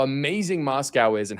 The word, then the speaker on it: Moscow: But I was in Moscow and Moscow Moscow. She's saying Moscow. It's Moscow. Candace, it's Moscow. Moscow. M A S K O U, that's how I spell to pronunciate it.